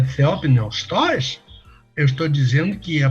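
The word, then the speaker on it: θεόπνευστος: palavra de Deus é Theopneustos, eu estou dizendo que a palavra é soprada por Theos, que é Deus. Lá vão as sílabas para o pessoal que pede, né? Theopneus, T-O-S. Theopneustos.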